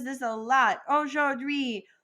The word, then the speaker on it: aujourd'hui: This one can be kind of hard to pronounce, so I'm going to break it up into 3 syllables. So first off, we have O. Then we have jour, and then dui.